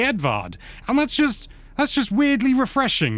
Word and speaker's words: Edward: I can't think, well, like Edvard, it's just Edward in English, but they say Edvard, and that's just weirdly refreshing, you know?